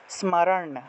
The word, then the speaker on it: স্মরণ: তা এটাকে একসাথে উচ্চারণ করলে স্ম উচ্চারণ হবে, স্মরণ, স্মরণ, ঠিক আছে, স্মরণ, স্মর না, না মূর্ধন্য, স্মরণ, স্মরণ, এইভাবে, স্মরণ, এইভাবে।